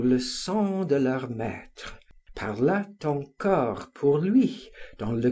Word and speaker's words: parlât: I was struck with the word parlât, and found a T was necessary to form the third person of the subjunctive, whereas I had always written and pronounced it parla, as in the present of the indicative.